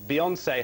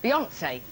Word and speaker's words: Beyoncé: On Booty Watch in Leicester Square is Colin Patterson, who's been speaking to his, get this it rhymes, fantasy fiancée, Beyoncé. Eh?